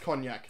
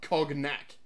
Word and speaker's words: cognac: decanter of cognac ah that is pronounced cognac not cognate like I used to say Clarence sparrow is